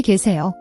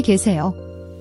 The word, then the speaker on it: 계세요: The gye sound is often difficult. It's a gye like gia, not gay or k.